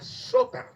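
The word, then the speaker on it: σωτήρ: Fíjense, la palabra salvación es un término griego que se pronuncia soter.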